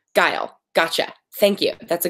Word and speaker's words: Guile: Oh, reminder that your name is pronounced like Kyle with a hard G. Guile.